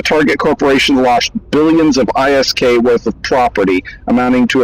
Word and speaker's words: ISK: was real big into Eve online yeah often pronounced isk yeah exactly I just call it they don't